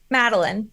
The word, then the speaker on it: Madeline: So Madeline, I want to kind of break down a couple of things that maybe you, by the way, I want you to say your first name for me. Madeline.